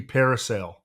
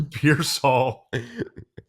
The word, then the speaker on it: Pearsall: Ricky, it's not Ricky Parasail. Okay? It's Ricky Pearsall.